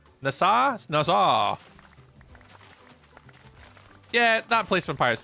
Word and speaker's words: Nassau: You were figuring out how to pronounce the city from the Pirates of the Caribbean, saying NASA. Nassau.